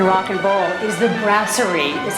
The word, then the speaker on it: Brasserie: And of course, here in Rock and Bowl is the Brasserie, is how it's pronounced, where Chef Fred Perel creates amazing things